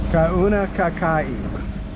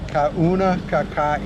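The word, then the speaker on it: Kaunakakai: yeah, Kauna Kakai. Kauna Kakai. And I don't know if that's the correct pronunciation.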